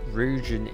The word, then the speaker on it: Ryujin: Ryujin Industries. Okay. Movery is saying Ryan Industries.